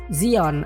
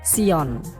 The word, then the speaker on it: Zion: Zion adalah pengucapan dalam bahasa Inggris. Dalam bahasa Latin akan disebut Sion. Dalam bahasa Ibraninya adalah Zion.